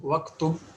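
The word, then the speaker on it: اكْتُبْ: if we pronounce it individually, then we have to say uktub. Okay, but as it has come after wa, then we have to pronounce it as waktub.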